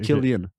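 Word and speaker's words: Cillian: It's Irish garlic as always pronounced as K parce que c'est Irish. OK. C'est Killian Fa dans le fond j'ai juste écouté les gens qui prononçaient mal c'est tout.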